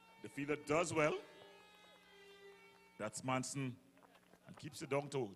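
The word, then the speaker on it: Maison: When we say Manson, not Manson, Manson. Yeah. Manson. Like tight Mike.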